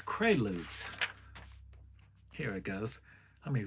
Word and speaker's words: Quaalude: How do you pronounce it? There. Quaalude. It's Quaaludes. It's Quaaludes.